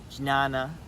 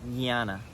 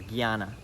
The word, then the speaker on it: Jnana: J and a and it looks like it would be pronounced G Nana but it's more like jnana or Gianna okay Gyana yoga it means yoga